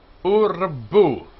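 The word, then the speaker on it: וּרְבוּ: Urbu, urbu, and multiply yourselves. Urbu. Two vowels, u and u, two syllables.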